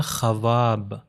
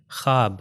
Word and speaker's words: خواب: تو ہو جائے گا خواب، مگر یہاں پر ہم واو کا تلفظ نہیں کرتے، ہو جاتا ہے خواب، یعنی لکھا جائے گا،